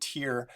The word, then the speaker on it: Tyre: there's a really cool prophecy about a city called tire or some people pronounce it tyr in modern lebanon and